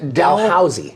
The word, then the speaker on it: Dalhousie: Rhoda graduated from the Faculty of Dentistry at how do you pronounce that Josie Dalhousie Dell how's the University in Halifax Canada is